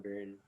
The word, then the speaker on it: Byrne: And then later on John Byrne. Is it Byrne or Byrne? How do you Burn. pronounce that? Byrne. There you go. Thank you. Burn like the fire.